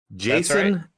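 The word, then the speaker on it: Jacen: yeah J A ceen I assume spelled just like the normal j a s o n or pronounced the exact same as just our classic Jason but we had to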